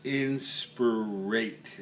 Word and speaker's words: inspirate: yourself step eight is inspirate and it rhymes with eight and i can remember